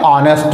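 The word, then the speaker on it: honest: तो वर्ड हमारा क्या बना, एन ऑनेस्ट मैन, क्योंकि एच से शुरू जरूर वर्ड हुआ है, लेकिन उसका प्रोनाउंसिएशन हा अक्षर से ना होकर के हिंदी वर्णमाला के आ अक्षर से हो रहा।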